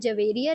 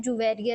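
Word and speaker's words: جويرية: कुछ इसको प्रोनाउंस करते हैं हजरत जवेरिया रदी अल्लाह ताला अन्हा और कुछ कहते हैं जुबेरिया रदी अल्लाह ताला अन्हा।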